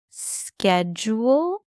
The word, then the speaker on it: schedule: So in the US, Tom, it's typically schedule. Yeah, like sked.